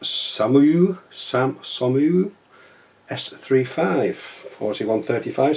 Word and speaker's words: SOMUA: internet so Heller and it's a French house pronounced some of you Sam Sam you s35 41:35 skill box that